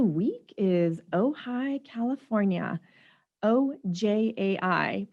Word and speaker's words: Ojai: is ojai california a ojai pronounced oh hi not ogi and it's also not ohio and it's a small